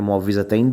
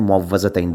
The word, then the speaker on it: معوذتین: کہ جو معوذتین ہے، ان کا دونوں طرح تلفظ ٹھیک ہے، معوذتین بھی کہہ سکتے ہیں، معوذتین بھی کہہ سکتے ہیں۔